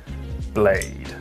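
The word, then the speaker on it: Blaidd: bloody finger Aquino so we have Blythe left to do or if you're spelling it phonetically blade blade so Blythe has a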